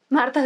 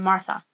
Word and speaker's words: Martha: marta vivir cosas aunque los gringos de repente me dicen marzo y hay otros que cuando yo les digo no es que sin la h bueno mi nombre llevará che pero siquiera pronuncien se dice en mora